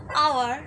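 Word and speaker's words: hour: প্রোনাউন্সিয়েশনটা দেখো, আমরা বলছি কিন্তু আওয়ার, কিন্তু আমরা কি বলছি হাওয়ার, হনেস্ট বলছি কি, এইচের কি আমরা প্রোনাউন্সিয়েশন আদৌ করছি না, ও তো সাইলেন্ট, ঠিক আছে। তো এবার আমরা বলছি অনেস্ট, তো আমাদের সাউন্ডটা ও দিয়ে আসছে, অনেস্ট আসছে, আওয়ার আসছে,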